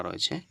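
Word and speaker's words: ر: সেটার বরাবর উপরের তালু এটা মনে করুন জিহবা এর যে সামনের এই যে আগাটা রয়েছে গোলাটা এই আগার যে এখানকার গোলাটা রয়েছে এটা উপরের তালুর সঙ্গে কি হবে লেগে যাবে তাহলে কি হবে র উচ্চারণ হবে লেগে যাবে কিন্তু একটু কি হবে ভাইব্রেট হবে একটু লক্ষ করবেন ভাইব্রেট হবে মানে কি একটু একটু কাপে ঠিক আছে তো কি হচ্ছে র ঠিক আছে কাপছে কিনা দেখুন জাস্ট ট্রাই করুন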